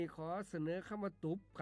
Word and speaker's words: ตุบ: ขอ เสนอ คำ ว่า ตุบ ครับ ตุ๊บ เขียน ต่อ เต่า สระ อุ บ่อ ไม่ ๆ รวม กัน แล้ว อ่าน ว่า ตุบ ครับ ตุบ เป็น คำ